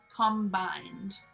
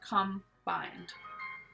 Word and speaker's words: combined: everything can be combined combined looks like that with these three syllables but it's not really it's combined put together with the